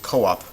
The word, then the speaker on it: co-op: You can say co-op. Um, a lot of times to avoid to sort of and and you would pronounce it co-op with a hiatus there.